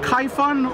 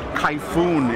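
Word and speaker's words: Kayfun: And still, is it Kaifun or Kaifun?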